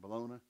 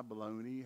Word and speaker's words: bologna: It's Frosty Morn hot dogs and bologna.